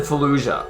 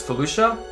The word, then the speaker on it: Felucia: them so Lucia Lucia so it is Felucia I said Fallujah but it's Felucia maybe that's what it